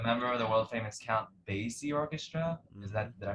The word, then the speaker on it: Basie: The member of the world famous Count Basie Orchestra. Did I pronounce that right?